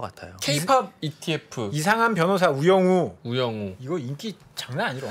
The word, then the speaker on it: 우영우: K-pop ETF 이상한 변호사 우영우. 우영우 이거 인기 장난 아니라 엄청 재밌다. 발음 조심하셔야 돼요. 우영우입니다. 우영우.